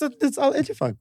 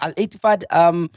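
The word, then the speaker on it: Al-Ettifaq: No, it's Al Ettifaq. Yeah, Al Ettifaq.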